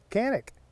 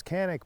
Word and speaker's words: Canik: pronunciation i know that it in europe particularly in turkey it is pronounced differently it's more like shanick but i get so